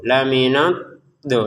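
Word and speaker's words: لَمِنَ الضَّالِّينَ: Dotnya ini ditekan ya minad do. Laminad do seperti itu ya. Ditekan dari dot itu cara pengucapannya dari sisi lidah ya dari pangkal sampai ujung termasuk sisinya itu menyentuh ke gigi atas. Dan setelah itu, setelah ditekan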